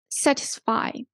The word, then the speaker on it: satisfy: for multi syllable verbs you need to stress the syllabus before the ending as well satisfy so um here we emphasize set the first syllable quality okay CT certify